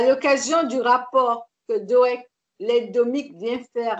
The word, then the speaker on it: Doëg: Que Doeg, Doeg. Oui, voilà. Voilà. Comme ça s'écrit G-O. D-O-E-G. Ok. Doeg. Oui, Doeg.